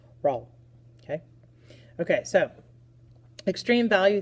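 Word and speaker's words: Rolle: always bugs me so French people you have a little bit of an advantage because this mathematician was French so his first name was Michelle and the last name is pronounced roll roll okay okay so extreme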